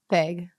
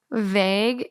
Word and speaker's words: vague: Vague. Vague is pronounced vague and rhymes with cra.